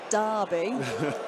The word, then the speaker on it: Derby: So, well, the city of Derby is pronounced as such.